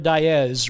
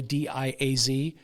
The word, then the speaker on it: Diaz: Of course, most people pronounce that Diaz. But if you're an Iowan, which she was, it's pronounced Diaz. So out of habit, that's where I go. But I know it's probably Diaz, right?